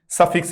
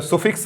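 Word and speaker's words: suffix: कर देता है तो सफिक्स है। सुफिक्स नहीं होता, प्रोनाउंसिएशन पर ध्यान देना, सफिक्स होगा।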